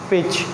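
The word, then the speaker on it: pitch: This is sketch and this is पिच, पिच, okay. यहाँ पे भी टी का साउंड जो है वो प्रोनाउंस नहीं होगा।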